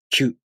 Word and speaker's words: きゅ: To pronounce Q, the tongue moves from the ki consonant to the u vowel. Q.